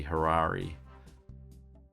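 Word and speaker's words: Harare: working with that's pronounced i think generally with um african words i would have thought an e at the end is actually a hard e so it would be harari as opposed to hurrah by the way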